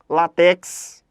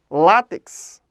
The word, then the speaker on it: látex: a pessoas que falam látex mas a pronúncia é látex látex paroxítona terminada em x Ok tudo bem Tudo